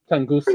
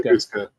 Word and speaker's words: Tunguska: How do you pronounce the is it Tunguska? Tunguska. Tunguska. Tunguska was thought to be a comet that blew